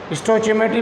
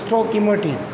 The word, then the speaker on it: stoichiometry: स्टोचियोमेट्री भी कहते हैं इसको, और इसकी जो रियल प्रोनाउंसिएशन होगी स्टोइकियोमेट्री।